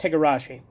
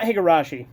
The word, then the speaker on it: Higurashi: can never find that video because i horribly mispronounced higurashi or not higarashi well actually kinda because like here's the weird